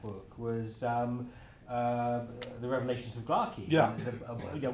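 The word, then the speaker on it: Gla'aki: ether told you that it should be pronounced Glaki, did it not?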